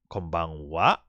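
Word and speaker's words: こんばんは: I would just say that ha and wa. It's just that it's just old Japanese way of pronouncing it for the ha, and it's written as wa. So basically, it's very simple. Is that in this case we always use konnichiwa and konbanwa.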